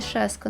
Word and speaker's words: Сашка: Можно, конечно, сказать, что я Сашка, а не Шаска, но и так пойдет.